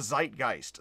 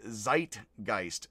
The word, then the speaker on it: Zeitgeist: But that would be, in English, you would say zeitgeist. It would be zeitgeist, I believe, is a bad pronunciation still, of German, because S and Z are switched in German.